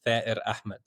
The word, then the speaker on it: Ahmad: And uh the way you'd say my name in uh in Palestinian is Ahmed Ahmed.